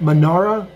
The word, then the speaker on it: menorah: Manara. Been saying that wrong the whole time. Manara, light the Manara. Yes, because I've been saying it wrong.